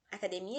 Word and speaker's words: academia: a escrita muito parecida então academia por exemplo academia gente fala academy é mas em espanhol é academia hidrogênio em português e